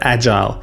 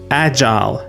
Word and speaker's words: agile: The standard pronunciation and what you'll hear in most companies is agile. Soft J sound like the J in jump. Long I sound like the I in while or mile.